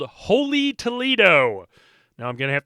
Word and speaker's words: Holey Toledough: That is H O L E Y, like a donut hole. And then Toledo is T O L E D O U G H.